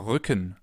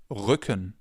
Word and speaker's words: Rücken: This sound is different than in English. In English it would be R. In German it's R. We form it more in the back of our mouths.